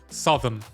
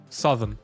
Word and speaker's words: Southern: Uwaga, sovn. Nie mówi się so. Southm. S a w n. Southern.